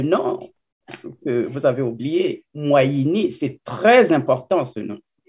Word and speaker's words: Mouayini: Donc, il faut savoir le prononcer. Comment ça se prononce alors? Moyini. Moyini.